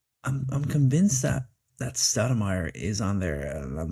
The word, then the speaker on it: Stoudemire: Stoudemire. Not how you spell it, Stou- um demire. Stoudemire. Stoudemire. Who'd have thought Amare would have gotten there?